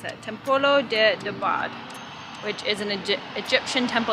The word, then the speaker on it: Templo de Debod: So we're changing our mind, we're gonna walk to Temple de Debod. Let me pronounce that, Templo de Debod, which is an Egyptian temple.